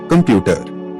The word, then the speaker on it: computer: Computer, stress on the second syllable.